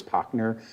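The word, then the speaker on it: Pachner: behalf of shea homes my name is potner i'm a land use consultant for shea my address is 130 rampart way denver colorado and pochner is spelled p-a-c-h-n-e-r i will be very brief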